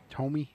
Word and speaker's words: Thome: Don't know Jim Thome either. Jim Tomy. Tomy. Yep. Is that how you say it? Yeah. So, uh, Alex Rodriguez is five.